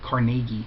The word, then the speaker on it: Carnegie: Bingham establishes this applied psychology department at the Carnegie Institute, or Carnegie. I heard that pronunciation a lot.